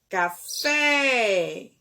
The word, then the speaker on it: café: vai chamar a palavra café então qual foi a sílaba que eu pronunciei com mais intensidade foi o fé então ela é uma